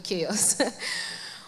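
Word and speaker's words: CHAOSS: Am I pronouncing it right, Chaos? Yeah. Okay, Chaos.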